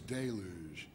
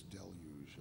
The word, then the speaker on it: deluge: If you're from Kansas, it's Deluge. Ah. If you're going to say it properly, it's Deluge, I believe. Okay, Deluge. Deluge. I believe it's a French word.